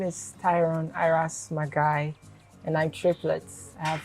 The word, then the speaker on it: Marhguy: Your surname, how is it pronounced? Okay, Marhguy.